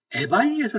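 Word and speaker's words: eBay: 그랬더니 에바이에서 샀대요, 에바이. 아, 그래서 두바이? 그랬더니 에바이라는 겁니다. 에바이 이가 에거든요. 그러니까 에바이. 우리는 이베이라고 부르는데 이 친구들은 에바이라고 부릅니다.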